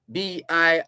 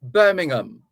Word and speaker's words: Birmingham: it's g-r-a-h-a-m pronounced graham b-r-a-h-a-m is braham b-i-r-m-i-n-g-h-a-m is birmingham birmingham fulham f-u-l-h-a-m fulham so the h's are silent or the h is silent in all of these these names and words so the medical officer